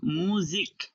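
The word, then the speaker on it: musique: শেষ ক দিয়ে শেষ যেমন মুজিক মুজিক মিউজিক তাহলে কিউ ইউ ই থাকার পরেও আমি কি করলাম ক দিয়ে শেষ করলাম ক হ্যাঁ এখানে মূল বিষয়টা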